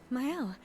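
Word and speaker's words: Maelle: I still don't know how to pronounce her name. I hope they say it at some point. Hi, Sophie. Oh, myel.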